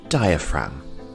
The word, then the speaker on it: diaphragm: have the diaphragm and the g here is silent diaphragm our next body part